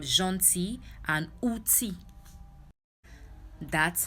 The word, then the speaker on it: gentil: The L is silent in the word gentil, and outil.